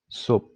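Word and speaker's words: صبح: But in casually speaking, you wouldn't really hear the he sound here. You just hear like subh. It's like the he doesn't exist.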